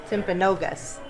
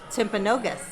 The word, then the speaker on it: Timpanogos: the name timpago timpagos you may be saying it wrong it's an indian name so any timpa goat timpagosa ask him again tim oh so it's tim pagosa timpanogos and the name is timpanogos i think we got